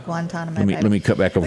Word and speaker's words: Guantanamo: how do you say guantalamo bay did i say that correctly guantanamo let me cut back over here these guys that know that how do you say it guantanamo there you go i said it wrong